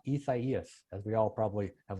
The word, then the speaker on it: Isaias: replaced iac in two out of 2008 it's pronounced isaias as we all probably have learned by now